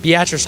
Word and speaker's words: Beatrice: with the late model Showdown Jordan grabrowski from Beatrice Nebraska did I pronounce that right Beatrice Nebraska yeah okay but a regular IMCA guy